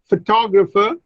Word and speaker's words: photographer: But when I add ER to photograph, look, the stress shifts from the first to the second syllable, photographer, and so many vowels also change.